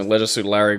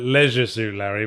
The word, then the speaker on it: Leisure Suit Larry: See, I persistently call it Leisure Suit Larry because I think the original American pronunciation, Leisure Suit Larry, doesn't scan as well. I prefer the shorter vowel sounds, Leisure Suit Larry. I think it scans better.